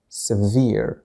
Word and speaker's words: severe: لاحظوا جيدا نطق هذه الكلمة, severe, شديد, قاسٍ, severe, لكن هنا عندما استخدمت تقريبا نفس الكلمة كفعل نطقناها sever, سأكتبها هنا كفعل, I sever something, أفصل شيئا, sever, لكن الأدجكتيف يكتب بهذه الطريقة وينطق severe floods, فيضانات شديدة, الفيضانات قطعت الطريق, the floods severed the road, هنا severed, هنا severe, sever, severe, sever, severe, هناك فرق في النطق.